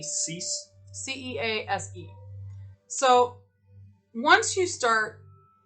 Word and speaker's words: Cease: you say his name um kyle kyle c cease c-e-a-s-e so once you start in this awakening